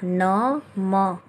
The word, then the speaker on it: नमः: तो जैसे यहाँ पे देखिए दे रखा है नमः, न म अह नमः, प्रा त ह प्रातः, पढ़ने का उच्चारण बच्चों को सही सिखाएं ताकि उनको रीडिंग करने में आसानी हो।